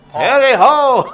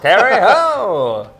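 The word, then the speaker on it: Terre Haute: T E R R E H A U T E Terry Ho Terry Ho.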